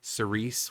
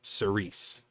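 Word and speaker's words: Cirice: this time it was between rats or uh Cerise which is yes that's how it's pronounced band-wise it actually has an of another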